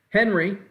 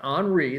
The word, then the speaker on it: Henri: now let's talk about tropical storm on re henry but it's actually pronounced on re the world meteorological organization actually makes the names